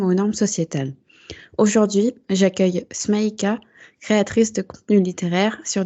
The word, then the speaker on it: Smaïka: C'est bien comme ça que ton prénom se prononce, pardon? Oui, en Smaïka. effet, Smaïka.